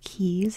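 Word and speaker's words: cay: the Bahamas they're called keys it's spelled c-a-y but it's pronounced key and then we can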